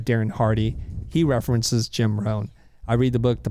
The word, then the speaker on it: Rohn: And Jim Rohn's like the godfather of business philosophy. He's passed away. And Rohn is spelled R-O-H-N.